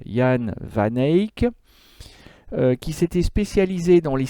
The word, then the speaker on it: Jan van Eyck: van eyck mais bon il vaut mieux prononcé à la locale jan vanek qui s'était spécialisé dans